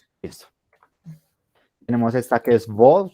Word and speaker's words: vo: Tenemos esta que es vo, se pronuncia tal cual como nuestra V, solo que toca tener mucho énfasis de no pronunciarla como una bo, porque esa sería esta de acá, sino como vo, vo. Es labiodental la pronunciación.